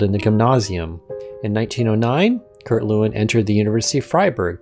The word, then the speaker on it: Lewin: to the United States he told people to pronounce his name Lewin anyway Kurt Lewin was